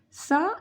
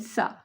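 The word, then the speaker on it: ث: Shin make a sharp sound, but Sa make a soft sound because Sa is one of the soft letters of Arabic alphabets and Shin is one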